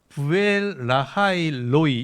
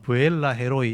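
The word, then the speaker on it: באר לחי ראי: 그래서 사실은 이제 부엘라일로이 이렇게 읽어돼요. 부엘라일로일인데이 한국 발음은 브엘라 헤로이 이렇게 이제 발음을 쓴 거예요.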